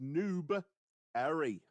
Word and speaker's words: Newberry: you ain't from here it's pronounced Noob Arie Noob area it is oh I